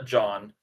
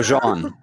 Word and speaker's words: Jean: Yeah, it just says John. Dang it. I was going to be a Rob. But it says Jean, but he pronounces it John. How dare you, sir? Oh, a fellow Jean.